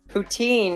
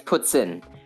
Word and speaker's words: poutine: very Canadian thing what's poutine okay so ptin PS is how it's actually pronounced okay poutine is how it's pronounced in English which is fine um but traditionally it's puts in but so basically you